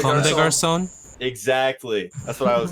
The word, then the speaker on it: Comme des Garçons: And another thing that I found very surprising is the opening to track number 4, Come de God, I don't know how to Come de pronounce it. Comme des Garçons.